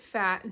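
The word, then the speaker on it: Phat: Let's get fat. No downtime. Fat is spelled P-H-A-T, by the way.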